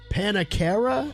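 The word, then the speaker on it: Pannakara: In her final messages, upon reaching their destination, Panakara is how you say his name.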